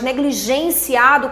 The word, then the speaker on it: negligenciado: Negligenciado é uma paroxítona, a sílaba tônica é A. Negligenciado, terminada em O, não recebe acento algum, tá?